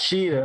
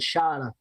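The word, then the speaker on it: Shida: What, Sheeta? Yes, Sheeta. Okay, I was making sure I got it right. I almost said Shada.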